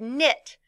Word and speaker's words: knit: e d the word knit which has a silent k in it KN n i